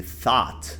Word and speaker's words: thought: He thought the movie was awesome. Thought. Então aqui, ó, GH mudo. Então fica só thought. Thought.